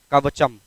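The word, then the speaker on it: Kavacham: से लिखा हुआ नाम है, इसका नाम है कवचम।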